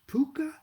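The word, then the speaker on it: Pocuh: no yes finally really pronounced puka like harvey the invisible six-foot rabbit in the movie yes so there it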